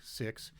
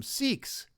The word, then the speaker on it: Sikh: about them call them sikhs well that that's not right i think uh the the six don't mind being called sikhs because in english it sounds like they're being called sick well that's kind of